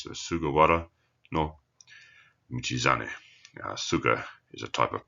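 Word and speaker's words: 菅原道真: Hara, or in this case pronounced as wara, it's changed its pronunciation over time, is a plain, as in a land, plain, flat, no mountains.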